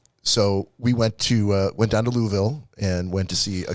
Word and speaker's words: Louisville: Like Louisville is what I'm hearing. Louisville. Yeah, that's what I heard when I was down there by the locals. Yeah, because exactly, he went there so he can pronounce it now. Yeah, exactly. It's Lawville.